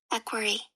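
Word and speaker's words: equerry: I keep on saying this. I'm probably even pronouncing it wrong. Let's look it up together. Equiry. Okay, I've been saying it right.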